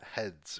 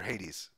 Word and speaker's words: Hades: brought them into the studio supergiant's new game heads or Hades sorry hey heads yeah I read it wrong